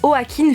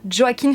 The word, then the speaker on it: Joaquin: niveau des interviews de au hacking phoenix et à chaque fois on disait enfin les personnes disaient au hack in phoenix et non pas joaquin phoenix voilà pourquoi je je le prononce comme ça il ya également des